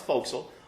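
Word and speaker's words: forecastle: the hatch it hurts hey folks okay it's pronounced fossil the four Castle it's a forward portion of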